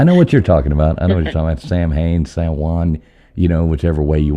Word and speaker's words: Samhain: I know the Muggles call it Samhain, so I figured I'd say it that way. But it's actually pronounced Samhain.